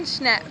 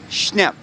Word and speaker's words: Schnepf: Pronounce the last name for me. I always mess it up. It's Schnepf. Schnepf.